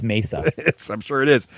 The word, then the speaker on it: Mesa: hordes event going on in how do you pronounce Craig uh I don't know Mesa or Mesa oh it's Mesa yes I'm sure it is Mesa Arizona in